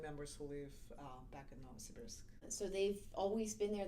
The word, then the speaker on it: Novosibirsk: How do you pronounce that again? Novosibirsk.